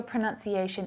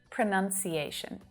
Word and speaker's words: pronunciation: one ironically is pronunciation so it's pronunciation not pronunciation now i think it's easy enough to see how this mistake happens right we have the verb pronounce pronounce and that has the ow vowel sound in there pronounce pronounce but the